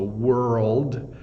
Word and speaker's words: world: world this rld D the wo is pretty easy W but the rld D is the hard part uh I think for nonnative English speakers so world world my my tongue